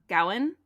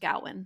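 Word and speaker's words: Gawain: this was written like it probably would have been pronounced Gowan instead of GA so anyway along the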